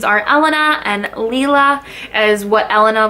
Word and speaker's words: Elena: I believe it's pronounced Elena. I've done a little bit of research and that seems to be the proper pronunciation of her name.